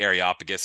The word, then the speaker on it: Areopagus: They bring him to this place, the Areopagus, I think is how you say it.